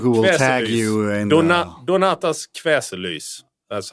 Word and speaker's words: Donatas Kveselys: Just my first name and my last name, so it's Donatas Kveselys. That's it. DONATASKVESELYS. Perfect. Wow. Perfect. Well, you really need, I mean it. I think we will tag you in Donatas Kveselys.